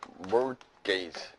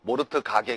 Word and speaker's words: mortgage: 이건 뭐냐면 mortgage. T가 묵음이에요. T가. 알겠죠? 모르트 가게 그러지 말고 알겠어요, 여러분? 그래서 이게 mortgage가 되는 겁니다.